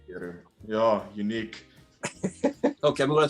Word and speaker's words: Peru: My pronunciation is Peru, like with a PE.